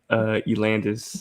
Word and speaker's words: Elandas: She put an R in it somehow, but there's no R in it. It's just Elandas.